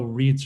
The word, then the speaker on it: REIT: The largest lodging REIT, the acronym is pronounced REIT, in the world.